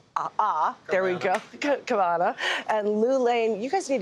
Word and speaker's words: Cavanagh: saying it right kav K there we go cavana and Lan you guys need to have ease